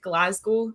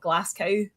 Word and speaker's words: Glasgow: But I will give him props because he actually said Glasgow and not Glass Cow that a lot of Americans say.